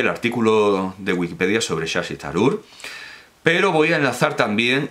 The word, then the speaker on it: Shashi Tharoor: Por cierto, que viene incluso la pronunciación, y es la que estoy usando, Shashi Tharoor, y porque la TH no es think, no es nuestra Z, es una T aspirada.